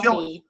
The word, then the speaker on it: Chillicothe: Chillicothe.